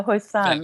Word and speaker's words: Hoisan: we have uh huissan i believe i've got the pronunciation right have i very close yeah hoisan i put a little of an accent on the last syllable but yes so nice